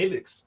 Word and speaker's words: Aviks: Aviks. Aviks. Okay, it's easy. It was just... No, I trust like the shoes. judgment. Asics. Just like the shoe. Was the Aviks instead.